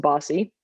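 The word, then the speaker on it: BAWSI: and marlene bjorn's room which we named the berry one sports initiative which is pronounced bossy um that was like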